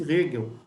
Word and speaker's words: Hegel: Escreve com H, mas pronuncia-se Hegel.